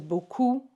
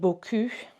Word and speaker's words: beaucoup: It's really important because beaucoup means a lot, but beaucoup, like this, the way it sounds, that means nice bum. Okay, so it's really important that we pronounce that correctly.